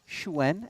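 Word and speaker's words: Xuan: that of 10 man previously known as Schwann schwen as we have been updated the correct pronunciation of his last name quite so far in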